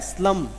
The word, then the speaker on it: slump: इधर देखो नालायक का वो स्लम होता है, वो होता है स्लम, ये मैं कह रहा हूँ SLUMP स्लम, इसमें पी साइलेंट है, वो स्लम नहीं कह रहा मैं।